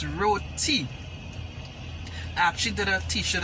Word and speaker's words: roti: very flavorful so how we pronounce this it is spelled r-o-t-i and it is not roadie is not ratty that's how the guy when mentioned earlier on